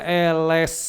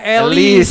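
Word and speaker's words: Ellesse: Eles ya nulisnya eles. C bacanya eles. Bukan elis. Elis ya bukan elis tapi eles.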